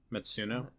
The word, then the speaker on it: Matsuno: my interpretation of what Matsun, how do you pronounce it? Matsuno.